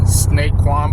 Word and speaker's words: Saquon: Saquon Barkley.